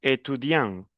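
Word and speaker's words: étudiant: Entonces, miren, yo digo etudian, no pronuncio la t, etudian, pero si le agrego una e lo vuelvo femenino, estudiante.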